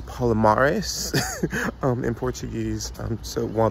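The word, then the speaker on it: Palmares: I was saying palomares incorrectly I was saying Palmeras so it's Paula Morris in Portuguese um so while the pronunciation is wrong trust me the information is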